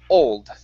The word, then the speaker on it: old: They pronounce the o as an oo saying o. O. Okay. Okay. If you do that then that is this word o. Okay. Which isn't the word you want to pronounce.